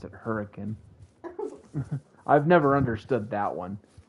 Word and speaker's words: Hurricane: Or the town that is spelled Hurricane, but we pronounce it Hurricane.